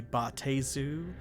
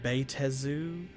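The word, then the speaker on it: baatezu: uh it could be baate zu or betezu or bayatezu i've heard that as well because it's got a double a so the bayatezu so demons are tanari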